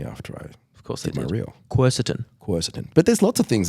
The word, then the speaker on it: quercetin: Quercetin, that's how I say it. Oh, it's not that? No, apparently it's quercetin. Everyone tried to tell me after I did my reel. Quercetin.